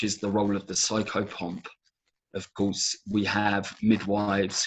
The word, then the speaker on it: psychopomp: Can you spell that word? I've never heard that word. Psycho POM, psychopomp.